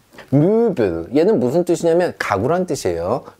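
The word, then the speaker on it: Möbel: 자, 무빌.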